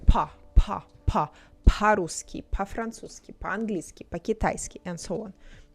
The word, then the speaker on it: по: When stressed we say or when it's not stressed we say a. So we don't say по po. It's more like па.